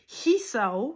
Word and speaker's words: Hisao: Et vous avez le Hisao qui commence par le H. Donc, vous devez vraiment prononcer le H quand vous dites Hisao, parce que sinon,